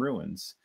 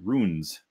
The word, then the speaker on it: Runes: So, 0 to X and Spook-o-Tron and Swords and Ruins, and sorry, Runes, not Ruins.